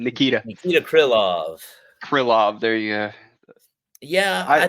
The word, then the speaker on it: Krylov: Krylov.